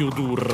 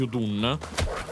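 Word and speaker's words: Udûn: Solo che ho sbagliato a dirlo e nel video pronuncio fiamma di Udur al posto di Udun.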